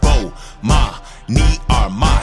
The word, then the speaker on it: Bomani Armah: I'ma say my name so you can pronounce it. Bomani Armah.